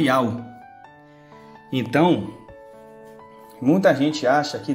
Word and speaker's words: Yahweh: Este nome aqui, vou mostrar para vocês agora que este nome aqui, ele se pronuncia Yahweh.